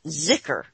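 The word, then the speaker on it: zikr: oh and he says sometimes spelled Z zikar and pronounced oh listen to this and pronounced zicker with a soft Z how do you say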